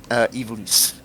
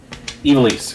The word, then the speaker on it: Evilise: Evilise. Evilise. Like, sort of like, if you took like Eve and Elise and sort of like combined them together. Evilise.